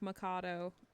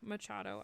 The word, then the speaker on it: Machado: of storytime Sundays and I was doubting the way that I was pronouncing the last name Machado and so I was saying like Macado and I don't know what the but I did look it up to make sure that I am crazy and yes I was um pronouncing that incorrectly so Carmen Maria Machado